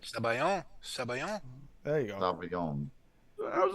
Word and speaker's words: sabayon: Sabayon?